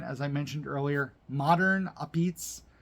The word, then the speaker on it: Apizza: One of the big reasons we went, as I mentioned earlier, modern Apizza, Abizz, if you want to say it like an Italian, I'm part Italian.